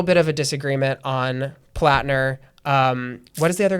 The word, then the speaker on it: Platner: Is it pronounced platner?